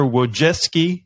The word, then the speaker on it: Wojcicki: this teaching process I want to welcome Esther wojeski to the unimpressed podcast how you doing Esther